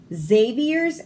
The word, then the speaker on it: Xavier: Xavier's extra arm made him an exceptional xylophone player. So the X sounds like a Z. Xavier, xylophone.